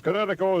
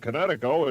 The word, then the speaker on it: Kinetico: You should have remembered kinetic as in kinetic energy with an O on the end.